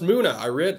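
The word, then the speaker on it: Munna: It's pronounced Muna.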